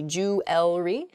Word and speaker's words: jewelry: word is jewelry jewelry I think I'm probably guilty of this mispronunciation I can't say that word mispronunciation where the word kind of gets a little bit smushed together and we say jewelry instead we've missed that that second e sound in there it should be jewelry in a sample sentence